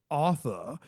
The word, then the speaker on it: Arthur: And they pronounce the name Arthur as author.